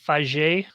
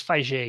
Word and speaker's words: Feige: that he's actually french some people say feig feige feig uh it's fiji he's french um so they've been